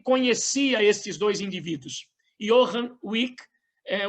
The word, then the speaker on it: Wieck: Yohan Wick. Eh, Wick é uma, na verdade se tem ali o o Ezinho, mas a pronúncia alemã termina wick mesmo.